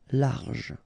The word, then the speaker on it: large: Don't insist on the final E. Large.